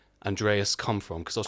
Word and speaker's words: Andreas: Greek translation or something like that but it's pronounced Andreas for music it's yeah it's it's the um